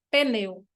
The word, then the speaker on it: pneu: O P é mudo, então é pi, não P, pneu.